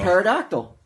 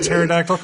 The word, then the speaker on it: pterodactyl: A pterodactyl with a silent P.